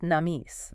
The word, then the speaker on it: NAMIS: That's pronounced Namis. Namis.